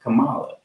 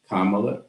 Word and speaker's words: Kamala: who mispronounce her name her name is not Kamala and it's very easy to remember just remember the punctuation Kama Kama love that's why I call her Madam vice president kamla Harris the reason why